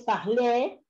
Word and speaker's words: parlerai: Porque acá sí suena la ER porque es ER final, pero acá ya no es final. ¿Bien? Entonces, si nosotros dividimos en sílabas, la E va a quedar en medio y como no tiene acento, no suena. ¿Bien? Por eso es parlé.